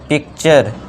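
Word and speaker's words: picture: होगा च होगा अब टी के बाद यू आर इ आ गया तो ये क्या बन जाएगा हमारा च बन जाएगा तो बना पिक प्लस चर पिक्चर फिर है टी के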